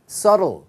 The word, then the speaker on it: subtle: subtle. 자, 요거는 지금 B가 묵음이죠.